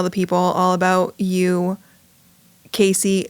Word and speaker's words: Casie: people all about you, Casey, not Cassie. Let's all just get that right, that it's Casey, not Cassie.